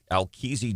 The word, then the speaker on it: Alkezi: Alkezi Jones? Al is pronounced according to the assistant chief, Alkez.